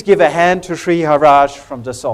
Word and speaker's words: Hara: who am I uh my name is Shri Hara you pronounce it as Hara uh Shri is my